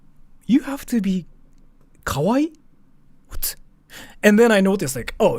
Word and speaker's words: kawaii: Kawaii!